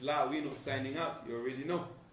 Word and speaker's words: La'wino: It's La Wino signing up. You already know. Okay, so that's our very own outspoken Lawino and Lawino. And kindly don't mispronounce my name. It's La Wino. La Wino.